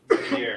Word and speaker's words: métier: ATA. ATA. ATA. There's no R. It's silent, right? ATA. French to R's usually. Métier. Métier. Like Cartier, like the brand. Métier. Métier. 3 syllables, right?